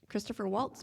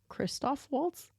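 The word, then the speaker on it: Christoph Waltz: like going down okay Christopher Waltz plays August did I say it wrong Kristoff Waltz oh I'm just you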